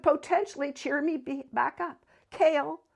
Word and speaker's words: Kale: Cale, pronounced Cale, yet nothing like the vegetable, has coffee-colored eyes and smooth maple skin.